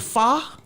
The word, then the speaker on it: pho: But wait a minute, the crazy part was, how about I was in their house, they made pho?